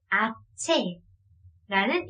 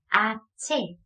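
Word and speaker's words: hache: H, 약간 얘는 아체라는 이름을 가지고 있습니다. 아체. 네, 얘도 H가 들어가긴 하는데 이걸 히읗 소리로 내지 않고요. 묵음으로 없다고 생각하고 네, 아체라고 발음을 하게 됩니다.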